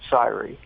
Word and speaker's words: Syria: Uh it's spelled uh Syria like the the country, but they pronounce it sire.